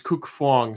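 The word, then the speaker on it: Cuc Phuong: uh blabberus Braden says cook sounds like cook and Fong sounds like fuong with a soft F and the long part rhyming with song going to gpt4 so it's cook Fong so I was kind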